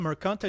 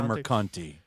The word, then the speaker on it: Mercante: Alyssa Mercante, is that how you pronounce her? I call her Mercanti.